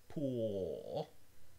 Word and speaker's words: pool: The one where the tongue is receded towards the back, pool, is this dark L. And as a matter of fact, if you pronounce it yourself, you'll feel that the tip of your tongue is not touching your alveolar ridge. Pool. We call this a dark L, or a velarized L, and it has